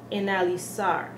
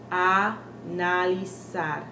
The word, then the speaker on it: analizar: So we might say analizar, when really we should be saying analizar. Instead of saying analyze, this becomes from an to an. Analizar.